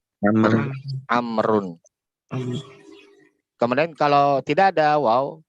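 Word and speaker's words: عمرو: Kemudian kalau di sini tadi kalau ada waw di akhir maka bacanya gimana? Amrun.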